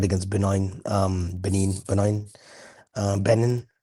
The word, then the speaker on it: Benin: got the third against Benine um Benin benign benin how do you say that country's name.